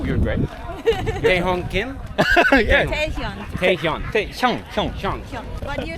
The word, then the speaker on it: Taehyung Kim: My name is a little bit hard to pronounce, so Taehyung Kim. But just yeah. Oh, you're great. Taehyung Kim. Yeah. Taehyung.